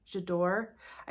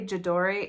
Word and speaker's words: J'adore: think it's called jador jador I always want to say jadori and somebody corrects me in every video like it's jador so I'm trying I think this is jador from D Dior I